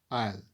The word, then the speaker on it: isle: climax next word a isle i'll remind you the pronunciation here i'll so the options are